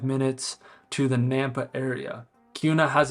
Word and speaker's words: Kuna: first of all Cuna k n a is pronounced Cuna not kuna and the location of Cuna is south of